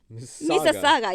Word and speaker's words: Mississauga: And he tried to spell it out, and M-I-S something. And he said it sounds like Mississippi. It's like M-I-S, and then we said it's Mississauga, yeah.